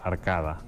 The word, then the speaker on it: arcade: O sigui, s'escriu igual, arcade, però es pronuncia arcada.